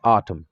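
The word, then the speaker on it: autumn: نه تلفظ کیږي، لکه آټم. آټم ته وګورئ تاسې، آټم په آټم کلمه کې دغه ام دغه ان نه تلفظ کیږي، ځکه دغه کلمه د ام نه وروسته راغلی، دلته نه تلفظ کیږي.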